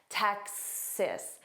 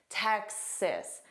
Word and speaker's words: Texas: But you need to immediately say cis. Sis. So you have that tech but instantly sis. Text. So, you have to add that s. Texas. Texas.